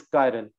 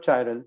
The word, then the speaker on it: chiral: known as chiral carbon the way it's pronounced is current not child child is not correct all right but